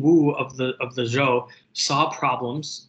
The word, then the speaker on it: Zhou: the rise of the zhou dynasty so it's pronounced kind of like the name joe right so joe dynasty